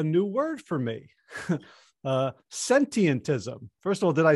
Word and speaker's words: Sentientism: talk about a new word for me uh sentientism first of all did i say it right yeah that's a great start your pronunciation was perfect it has a few too